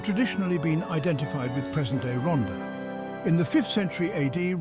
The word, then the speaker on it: Ronda: Ronda, pronounced Ronda in Spanish, is a municipality in Spain that belongs to the province of Malaga, within the autonomous community of Andalusia.